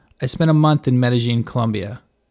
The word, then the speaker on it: Medellín: other by the way a quick note on pronunciation at some points in this video i say medellin in some points i say medellin is the typical spanish way of saying it medellin is what locals to the city say either